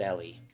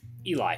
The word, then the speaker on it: Ehlly: It would be best if you rested, Ellie. Eli. I keep saying Ellie, but the way it's spelled makes me think Ellie.